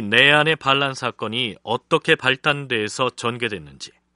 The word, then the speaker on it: 나얀: 그러면 지금부터 이 내안의 반란 사건이 어떻게 발단돼서 전개됐는지 그 경과를 김순자 교수와 함께 차근차근 살펴보도록 하겠습니다. 우선 몽골 발음으로는 일반적으로는 나얀이라고 칭하는 이 내안이라는 사람이 어떤 인물인지 알아볼까요?